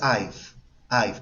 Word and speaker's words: I've: Se pronuncia I've, como una A y F suave.